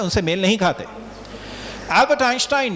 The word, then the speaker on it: Einstein: उसमें अगर आप स्पेलिंग उनकी देखें, EINSTEIN है। इसके आप 3 खंड दिमाग में बनाएं, EIN, ST और EIN। जो जर्मन भाषा है जिसको डॉइच बोलते हैं, उसमें एक को आइन बोलते हैं, तो वो आप ST